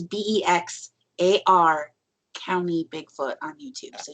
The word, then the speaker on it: Bexar: And if you want to find him on YouTube, his YouTube channel it's actually, it looks like Bexar County Bigfoot, but it's pronounced Bexar County Bigfoot. So it's Bexar County Bigfoot on YouTube, so you can find his stuff there.